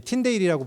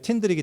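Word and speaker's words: Tyndale: 윌리엄 틴들이라는 사람은 이제 틴데일이라고 불리기도 하는데 영어 발음은 그냥 틴들이기 때문에 틴들이라고 하겠습니다.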